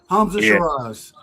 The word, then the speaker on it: Hamza: Hamza.